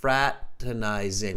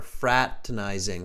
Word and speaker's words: fraternizing: the pronunciation here everybody repeat after me frat fraternizing we don't pronounce that second are fraternizing fraternizing fraternizing frat izing okay fraternizing fraternizing means